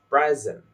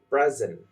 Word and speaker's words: present: When we say in the noun version we are going to say present such as I got a birthday present or in the verb version of it we are going to say present in a word I will present my idea.